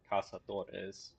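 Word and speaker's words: Cazador: Uh, and then casadors or casadores tech closer Spanish pronunciation.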